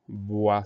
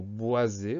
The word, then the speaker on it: bois: Donc, on pense à ce S muet à la fin du mot. Le son OA, tout va bien, ça s'écrit OI.